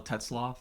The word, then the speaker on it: Tetzlaff: So the first thing I like to do is just have you introduce yourself, the correct pronunciation of your last name. Absolutely. So Tetzlaff, I am the Chief Executive Officer / new